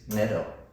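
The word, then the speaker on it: Ncedo: him and she's like his name is nedo with another clique and it's actually spelled n c e d o so even for english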